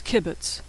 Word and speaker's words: kibbutz: This is kibbutz, which is 3 diagonal dots. It makes the short U sound in put.